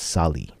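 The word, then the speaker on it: Sallee: was replaced by Matt Sally how do you pronounce his name it's Sally Yeah by by Matt Sally and and is the one here in the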